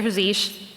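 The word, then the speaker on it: zsh: and SE um and I don't know that it's pronounced z i pronounce it zish uh but I wanted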